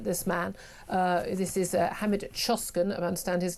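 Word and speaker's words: Hamit Coşkun: Uh the one I'm asking you about this morning um about this man uh this is Hammed Choskin I understand his name is pronounced uh he's a he's an asylum seeker from Turkey.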